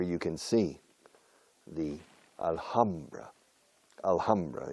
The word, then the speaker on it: Alhambra: Alhambra. En inglés se pronuncia la H en Alhambra. Yo creo que en árabe también. Alhambra.